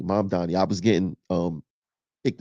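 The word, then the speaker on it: Mamdani: But the fact of the matter is that Mom Domney is saying, wait, is it Mom Donnie? Mom Donnie.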